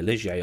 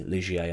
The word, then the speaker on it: Ligier: that man was called guy lijay or GI legier I think is actually pronounced in French now ligier would get